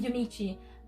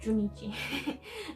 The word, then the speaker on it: Junichi: and junichi sorry I I'm so used to calling him yumichi but he's pronounced junichi um yeah and engine